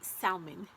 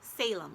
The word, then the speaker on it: Salem: I say this word, I want to say salmon, and it's not. It's not how you pronounce it. It's Salem. Salem is how you pronounce it.